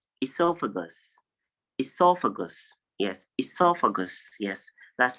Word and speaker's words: esophagus: It is not esophagus, or I don't know how you pronounce it, but the correct pronunciation is esophagus.